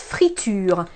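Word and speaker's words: friture: I have here my friends is known as free to you fr itu-r e which you eat comes from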